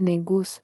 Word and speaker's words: negus: We learned our history and started using negus, spelled negus, pronounced negus, which means king.